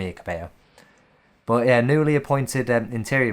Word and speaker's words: Cabello: I know that would be Cabello, like Camille Cabello.